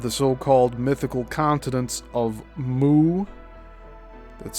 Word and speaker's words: Mu: the maps of the so-called mythical continents of Moo, that's spelled Mu, and Pan, spelled P an AN,